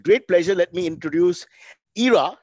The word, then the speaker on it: Ira: she spent a whole life telling idiots like me to, it's a simple three-letter name. It's like Jai. You can't pronounce Jai wrong. It's really easy. So it's Ira. Everybody get that right.